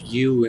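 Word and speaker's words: ewe: stealing sheep in fact the word you and there's about a w/e I actually had to look up the pronunciation of that that is a sheep it's a female sheep actually and whatever it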